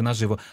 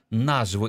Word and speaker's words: наживо: Зверніть увагу, в одних словниках наживо наголос. І ми тривалий час вимагали говорити, наголошувати наживо. А в деяких, особливо в найостанніх версіях, наживо. І науковці Інституту української мови все-таки радять наголошувати, робити наголос на першому складі, так само, як в словах насухо, нарізно, наживо.